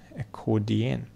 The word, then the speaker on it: accordion: о интересно слово acan accordion accordion accordion accordion accordion ударение на второй слог всё друзья Спасибо за